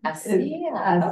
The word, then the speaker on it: ASEA: So ASEA ASEA, okay. is how you say that.